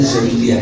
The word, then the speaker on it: Syadiliyah: Ini bacanya Syadiliyah ya, bacanya kan.